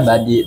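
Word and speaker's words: buddy: temen kan Budi eh budy itu sebenarnya lebih ke Bu G Bu Yes buy jadi b u d dy gitu dibacanya budy Nah itu tuh kayak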